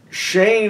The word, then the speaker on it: Shane: up all right no he means Shane is the Western but you pronounce this man's name Shan even though it's spelled the same there you go no one pronounces it chenet however wow that'd be